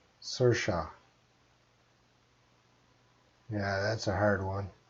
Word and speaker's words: Saoirse: All right, so it is pronounced Saoirse. That's how you pronounce her name, Saoirse. That's how she said, Saoirse.